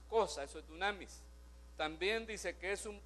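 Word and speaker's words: δύναμις: Esa palabra poder, que otras traducciones, hermano, nos lo dejan de otra forma, es una palabra que en el griego se pronuncia dunamis, más o menos.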